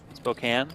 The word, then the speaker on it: Spokane: trial lawyer by trade I was told once that you're supposed to say Spokane Spokane yeah well I'm not